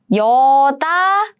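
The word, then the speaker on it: 여닫이문: So this yellow part is combined as 짜잔, 지, right? So let's read it together. 여다지문.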